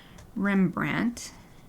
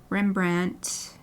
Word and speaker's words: Rembrandt: So this is Rembrandt. Brandt, right? Yep. Rembrandt.